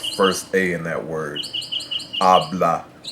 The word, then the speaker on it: habla: Habla. It also follows that first rule, where if you have a word that ends in a vowel, N, or S, the natural stress goes on the first syllable.